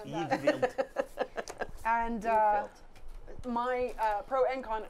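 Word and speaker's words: Yngvild: Ingvild. No just normal how, spelling. Just how it's pronounced. Ingvild.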